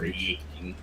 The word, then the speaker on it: wreaking: Is that wreaking is spelled with a W? W. Yup. That's right. Reeking. I Reeking.